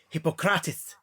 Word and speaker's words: Hippocrates: And maybe learn the correct fucking pronunciations for things. Hippocrates is Hippocrates.